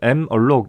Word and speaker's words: malloc: 메모리 얼로케이션의 약자로 생각해 주면 되겠죠. 우리는 malloc 이라고 읽을 거예요.